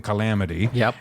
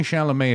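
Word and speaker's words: Chalamet: I think it's French I think it's pronounced sh it's only shalam if it comes from the shalam region of France I can't believe I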